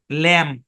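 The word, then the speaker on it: lamb: কথাটা মাথায় রাখতে হবে শব্দের শেষে এমবি আছে তাহলে বি সাইলেন্ট তাহলে কি বি সাইলেন্ট তাহলে বি যদি সাইলেন্ট থাকে এই শব্দের উচ্চারণ কি হবে ল্যাম্প কি উচ্চারণ হবে ল্যাম্প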